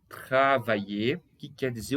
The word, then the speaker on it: travailler: Travailler. Tá? A pronúncia travailler, que quer dizer trabalhar.